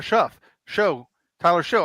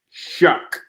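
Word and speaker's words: Shough: Tyler Show. I think he got belted, and they didn't call anything. You're talking about my quarterback? Yeah. Shuck.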